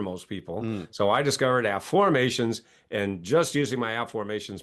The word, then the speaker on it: Afformations: And no, I'm not saying it wrong. It's Afformations, not Affirmations. That's my book from Hay House called The Book of Afformations.